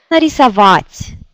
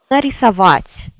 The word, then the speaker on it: нарисовать: Et ici, il y a plusieurs voyelles. A, I, O, A. C'est A qui est accentué et tous les autres se prononcent vraiment très...